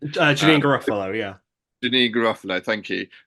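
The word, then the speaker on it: Janeane Garofalo: I do think there will be things like, the actors being like Janae Garofalo, I can't pronounce her name. Janine Garofalo, yeah.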